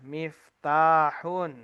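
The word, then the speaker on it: مفتاح: Kalau kita mendapati kata mim, fa, ta panjang, kemudian ha, maka itu bacanya adalah miftahun.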